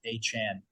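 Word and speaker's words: Achane: Also, apparently, it's the way he wants everybody to say his name is A-Chan.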